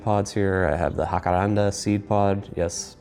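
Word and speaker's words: Jacaranda: Here I have the Hakaranda seed pod. Yes, pronounced it right this time.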